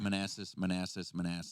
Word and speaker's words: Manassas: Manassas. How do you know it's called pronounced Manassas?